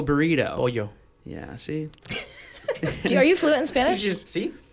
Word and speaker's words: pollo: Like, let me get a polo burrito. Pollo.